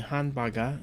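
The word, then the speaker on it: ハンバーガー: So the Hanbaga, which is how it's said in Japanese, it's a called a lone word.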